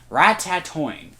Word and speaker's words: Ratatoing: way you say it it sounds like there should be four T's in there not three right see rat tat